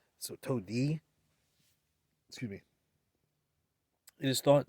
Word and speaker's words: Tode: There's a DE at the end there, so Todi.